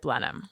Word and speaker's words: Blenheim: It's spelled like Blenheim, but you pronounce it Blenheim.